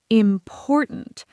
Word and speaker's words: important: For example, the word important. The stress is on the second syllable. Important. Not important. Not important. Important. That stress pattern is what makes it sound natural.